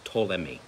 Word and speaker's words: Ptolemy: lisa makus selakus and ptolemy the p is silent in that name okay it's tolemy is how it was